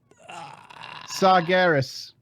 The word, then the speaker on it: Sargeras: sargeras no god sponsored what's wrong with it sargeras there you go okay oh i got one